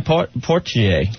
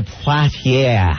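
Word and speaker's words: Poitier: by talking about it mhm uh Sid Sydney porier God I can't say his name Sydney parier thank you Jerry Lewis had it Arnold Palmer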